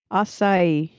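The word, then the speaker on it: açaí: Apparently in Jolly Good England they say acai. So emphasis on the first syllable, whereas in American English is emphasis on the last syllable, which makes sense, I guess.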